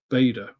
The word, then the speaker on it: Bader: And this one is over Douglas Bada or Ber depending on how you pronounce it.